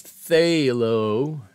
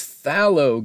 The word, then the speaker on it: phthalo: i i do not i've always thought it was phthalo a long a a the sound and